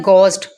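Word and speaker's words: ghost: Next है गोस्ट, गोस्ट में देखें एच के बाद ओ है और पहले जी है, दोनों वजह से हमने इसको क्या किया, एच को साइलेंट कर दिया।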